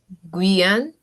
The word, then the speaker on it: Guyane: Guyane. Exactement. You see? So when you don't know a word, just use the syllable and you'll see.